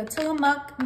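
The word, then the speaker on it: Tillamook: is and that is cheese I'm using the tillamuk Mexican four cheese I said it right this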